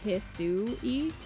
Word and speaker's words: Hisui: The trailer lady pronounces it as Hisui.